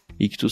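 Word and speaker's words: Ichthus: Ictus se escreve I-C-H-T-H-U-S.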